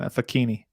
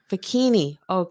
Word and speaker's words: Facchine: Facchine. Fakini. Yeah, Okay. like Oh, zucchini, but with an F. yeah. Facchine.